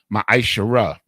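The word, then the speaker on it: מעשר: You can find this in Numbers 18 and 21 in Malachi chapter 3, verses 8 through 10, means 10th in the Hebrew, and is pronounced ma'ashara.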